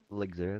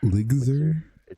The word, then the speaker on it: Lgzr: Ligzer, it's LGZR. Ligzer? Yeah, I get that question a lot. Eligma? Not very obvious. Well, hey, not there. Ligsma. Ligzer. L. Imagine there's like an I. Ligzer.